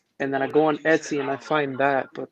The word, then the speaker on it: Etsy: I keep saying it wrong. Etsy. Yeah, Etsy.